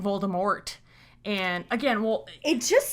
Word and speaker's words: Voldemort: I read the book I read it as Voldemort because because of the French pronunciation and at the time you know the